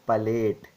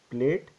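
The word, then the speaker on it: palate: oral cavity and nasal cavity is called as Pate it it is not pronounced as plate it is pate clear and this one is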